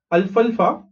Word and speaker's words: alfalfa: Next and the last point here is grass like अल्फल्फा. Okay how do pronounce this, L इज अल, एफ ए इज फल एंड एफ ए इज फा.